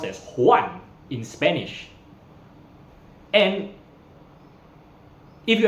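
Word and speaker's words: Juan: from English for example the letter J is pronounced similar to H in Spanish and maybe someone's name would be come across if you read in English as Jan j u a n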